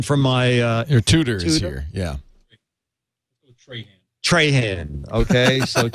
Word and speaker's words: Trahan: Han TR h tra Haan we need we need a pronunciation from my ear tutors yeah Trahan okay it's good I think you should keep